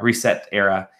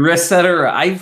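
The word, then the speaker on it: ResetEra: completely oh my god is that how it's pronounced reset era yeah reset reset era yeah I've never heard it out loud before I've only seen the URL and I thought it was pronounced reset or rest cetera I call it ret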